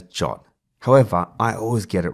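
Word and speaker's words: JWT: sam'l and today is JSON web token pronounced as jot however I always get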